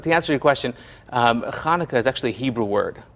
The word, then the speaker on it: Hanukkah: But the answer to your question, Hanukkah is actually a Hebrew word, and the first letter is a chet. We don't have that in the English language.